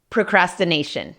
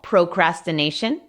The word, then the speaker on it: procrastination: Procrastination. Si quieres puedes pronunciar más la O, procrastination, pero en lenguaje coloquial lo que decimos es procrastination.